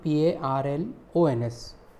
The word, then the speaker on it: parlons: So it becomes P-A-R-L-O-N-S. Pronunciation is nous parlons anglais, we speak English.